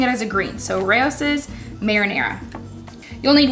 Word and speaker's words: Rao's: My favorite to use is Rao's, or some people say Rouse's. Honestly, I think I say Rouse's, but I was looking at it today and was like, I think that's actually pronounced Rao's.